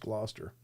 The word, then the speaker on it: Gloucester: Uh, the origin of legend is Glauchester, or I guess it's pronounced Gloucester. How do they Why do they even put this CE in there then if it's just Gloucester? Just get rid of the letters if they're not needed.